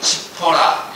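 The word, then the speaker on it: צִפּוֹרָה: 십보라의 원래 발음은 이 치포라입니다. 치포라, 이 작은 새란 뜻이죠.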